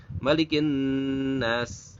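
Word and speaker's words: مَلِكِ النَّاسِ: Nah, maka pada kata malikin nas ini seringkali terjadi bacanya tidak dengan mad. Malikin nas. Nah, seperti itu malikin nas. Nah, dia pendek. Kalau pendek 2 harakat masih bisa, tapi kalau misalkan bacanya malikin nas, nah itu salah karena ada mad ya, ada mad arid. Mad arid itu panjangnya boleh 2, boleh 4, boleh 6.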